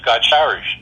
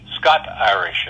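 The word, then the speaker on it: Scots-Irish: You're also Scotch-Irish. Scot-Irish is what the right way to say it, not Scotch. Scot, S-C-O-T-Irish.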